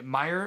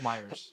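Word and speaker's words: Meijer: It's like, okay, Meyer is my favorite store. It's not called Myers.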